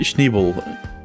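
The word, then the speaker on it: Schneeball: Schneebel, I put too much emphasis on ball. Alright? It's a more softer sounding bull, right? Schneebel.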